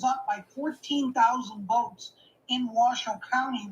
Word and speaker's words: Washoe: They had a big lead in Clark County, which is Las Vegas, and Washoe County, which you pronounced perfectly, is northern Nevada with Reno, and